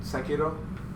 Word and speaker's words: Sekiro: I've played all the Dark Souls and their DLC and Bloodborne, but I have not played all of Demon Souls and Sekiro.